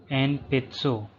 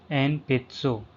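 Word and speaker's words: 鉛筆: Enpitsu. Enpitsu. Pencil. Again, N is pronounced as M. Enpitsu.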